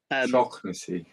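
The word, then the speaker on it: Shaughnessy: Shocknessy. Yeah. I only heard because Jer's Irish. And he pronounced it properly the other day for everybody. Shocknessy.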